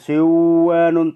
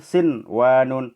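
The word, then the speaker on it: صنوان: sinwanun, bukan siwanun tapi sinwanun.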